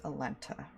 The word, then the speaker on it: Alenta: wrong, I will correct It is basically spelled how it sounds. Alenta. Like L-E-N-T-A.